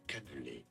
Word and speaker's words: cannelé: I need to know how to pronounce it. Extreme food names from France, so stay tuned. Cannelé. Cannelé is how it's...